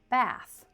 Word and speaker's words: bath: Later on, she enjoyed a long relaxing bath. So, here bath looks very similar to bathe. But they have different pronunciations. Bath uses the unvoiced th.